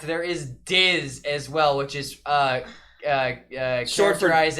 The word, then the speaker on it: DiZ: Because Diz is like the first syllable of Disney.